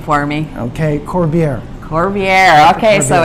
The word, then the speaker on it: Corbiere: to say your last name for me okay corvier corvier okay so it's French yes I'm German